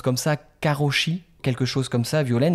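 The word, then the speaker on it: 過労死: tu connais cette notion de, je crois qu'on prononce comme ça, karoshi, quelque chose comme ça, Violaine, et en fait,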